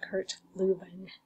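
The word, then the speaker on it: Kurt Lewin: Um it's it looks like it's Luen L E W I N but pronounced Kurt Luven because I believe it was German.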